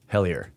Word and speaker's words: Hellier: It's called it's spelled like hell and then I-E-R. Hellier.